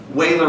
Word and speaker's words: Euler: Wehler was a mathematician. His name is pronounced that way.